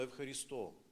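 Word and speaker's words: ευχαριστώ: в супермаркеті на касі нам говорять постійно евхаристо наголос такий Просто воно в обиході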